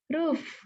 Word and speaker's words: roof: Terus yang ini nih, roof. Lagi, roof. Oke. Jadi di sini beda ya. Kalau yang pintu atau door itu bacanya U, U asli. Kalau yang di sini bacanya diubah jadi U. Jadi roof gitu.